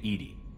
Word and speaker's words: EDI: Why are you named EDI? EDI is the phonetic pronunciation of EDI. That is an acronym for Enhanced Defense Intelligence.